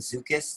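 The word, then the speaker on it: Szukis: you only have a short spot i recommend zukus that's spelled s-z-u-k-i-s and you'll see that in a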